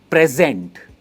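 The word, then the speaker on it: present: और next word है जो काफी कॉमन है, इसकी दो प्रोनाउंसिएशन है। सबसे पहले वाले प्रोनाउंसिएशन में हम जो स्ट्रेस है वो फर्स्ट पार्ट पे देते हैं और कहते हैं प्रेजेंट, प्रेजेंट। और जो सेकंड प्रोनाउंसिएशन है इसमें स्ट्रेस लेटर पार्ट पे आता है, वो है प्रीजेंट।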